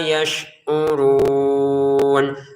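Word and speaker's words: يشعرون: Jangan anfusahum wa ma, jangan ditahan ya, langsung saja anfusahum wa ma yash'urun. Wa ma 2 harokat, yash'urun, shinnya jangan dipantulkan, yash'urun.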